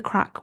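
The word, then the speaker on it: craic: Like C R A I C. Like it's something Irish Irish people say a lot like, "Oh, we had a crack." like is a crack. Crack. They say it like that.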